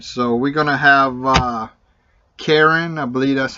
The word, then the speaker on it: Carin: And so we're going to have Carin, I believe that's how you pronounce her name, C-A-R-I-N.